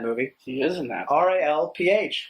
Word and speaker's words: Ralph: Ralph. Rafe. Rafe. As it's spelled.